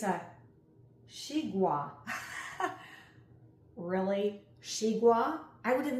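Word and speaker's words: xigua: The glossary is going to tell me how to pronounce this fruit. It's a shigua.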